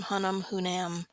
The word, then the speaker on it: Hunnam: I don't know how you pronounce his last name. Hunnam.